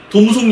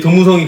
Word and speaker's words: 도무송: 많이 늦겠네 이제 그러면 도무송 얘기할 때가 됐네 예 지금 벌써 얘기를 하셨는데 패키지 할 때는 진짜 도무송 얘기 진짜 많이에 도무송의 존재 뭔가 뭔가 봤더니 톰슨을 약간 일본식으로 발음한게 도성이 아닌가 싶기 제가 도성집